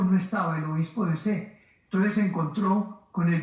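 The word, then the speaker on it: Sées: Se llamaba C. Se escribe en francés S, E, otra E y una Z. C.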